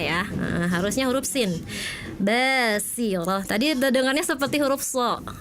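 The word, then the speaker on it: بَصِيرَةٌ: kakak ketika membaca eh ada huruf sin seperti sh di ayat 24 tadi terdengarnya gini yaumaid basirah seperti huruf sh saya terdengarnya ya heeh harusnya huruf sin basirah tadi terdengarnya seperti huruf sh heeh ya.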